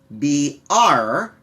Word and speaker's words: brawl: The B-R sound followed by a W sound is not very common in English, and so it's a little bit of a difficult sound to produce. Brawl.